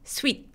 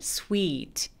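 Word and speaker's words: sweet: 바로 들어가지 않고요 이렇게요 얘는 또 모음이 길어서 이렇게 장음으로 소리가 나는 거 참고해 주세요 스윗 아니고 스위트 wh도 h를 무시하고 w만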